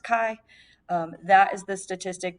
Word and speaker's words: chi: is the Greek letter Kai CI but it's pronounced Kai um that is the statistic that we are